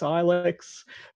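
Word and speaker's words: AiLECS: enforcement and community safety we pronounce it alex there's a lot of different ways that people try to pronounce it alex ilex supposed to be alex according to us but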